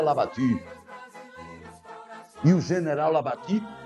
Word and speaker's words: Labatut: contrata o General Labatut alguns chama para tu é mas a pronúncia francesa lavaque eo General Labatut e